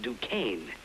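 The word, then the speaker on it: Dubonnet: say I'll have a dues pardon me sir it's pronounced Duan do Kane now try it do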